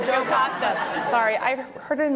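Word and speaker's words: Jocasta: Did I pronounce her name right? Joe Costa. Sorry, I heard it in my head, Yocasta, when I was reading it.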